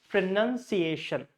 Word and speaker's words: pronunciation: and all, but actually it is sounds like this: P-R, schwa, pra, N, R, N, none. That is secondary stress. So when we put secondary stress, we put this dash lower side, fra, none, C, oh sorry, A, pronunciation, this is the primary stress, means this A should be stressed out, Asian, and this is the second, so none should be clear. So it's called pronunciation.